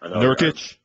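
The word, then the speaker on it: Nurkić: Nurkic. Thank you. I needed the pronunciation there.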